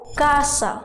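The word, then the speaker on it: casa: خاء زي خنتينكو خنت طب لو وراهم باقي الحروف الس بتبقى كاف زي كاسا والخ تبقى جيم زي جاتو كاسا جاتو حرف الانيه ده براند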